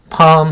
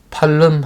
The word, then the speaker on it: palm: the garden, and lofty palms stood by the gate. 단어 볼게요. grow 하면은 자라다. 과거형 grew, 과거분사 grown. lofty 아까 나왔었죠? 고상한. palm 하면 종려나무. L이 묵음입니다. 소리가 나지 않아요. 팔름 하시면 안 돼요.